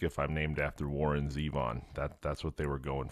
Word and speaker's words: Zevon: All right, Zevon, are you German? Yeah, it's actually Zevon, like seven with a Z, but my parents just